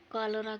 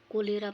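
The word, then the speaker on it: cholera: क्यों क्यों कॉलरा के कोलेरा पढ़ी है एकर सही उच्चारण हो कॉलरा, हैजा।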